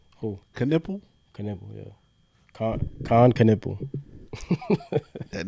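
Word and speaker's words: Knueppel: Caniple. Caniple. Yeah. Khan Caniple. That name is crazy. That's wild. You know, it's five of them, bro. It's a conundrum. Oh, what? Caniples?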